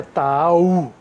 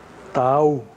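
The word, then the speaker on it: תעאו: A pronúncia disso aqui é Ta'au. Ta'au. Você pronuncia como um mantra. Ta'au.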